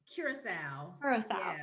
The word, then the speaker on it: Curasalve: it am i saying it the right way curacao okay yeah and um it is an organic